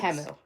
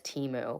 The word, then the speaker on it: Temu: they started pronouncing it because to Americans temu doesn't make sense yeah temu we read that as teu but that's okay I mean like to be fair it's not spelled like Teemu the my well you're